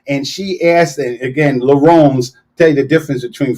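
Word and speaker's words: Laruns: And she asked, and again, Laurens, tell you the difference between French and English. Laurens is spelled L-A-R-U-N-S, the runs.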